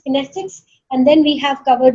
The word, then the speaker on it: kinesics: The correct pronunciation of kinesics is kinesics, and then we have covered the oculexes, and then we have covered the proxemics.